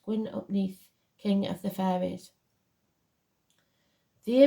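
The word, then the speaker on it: Gwyn ap Nudd: hunt uh and even GW UPN pronounced gwin upne King of the fairies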